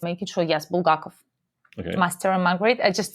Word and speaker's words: Bulgakov: So it's making sure, yes, Bulgakov. Okay. Master and Margaret. I pronounced it in a Russian way to pronounce it, so it's probably confusing for people.